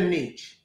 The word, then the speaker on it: niche: a niche a niche is it a niche or a niche I've heard both I always thought Niche but but yes I